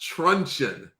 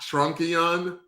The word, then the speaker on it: truncheon: it's pronounced truncheon not trunkion we had this discussion recently yeah somebody was telling us how it was properly pronounced i didn't pay enough attention but uh it sounds like it rhymes with luncheon which is uh sounds